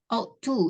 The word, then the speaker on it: ought to: Auta. Ought to ya bacanya.